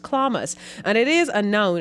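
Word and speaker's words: chlamys: for me because it's spelled c-h-l-e-m-y-s but it's pronounced clamas c-h-l-a-m-y-s pronounced clamas and it is a noun and it means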